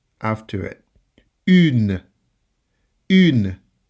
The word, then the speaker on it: une: Une. Une. Notice that I don't say une because the E is silent.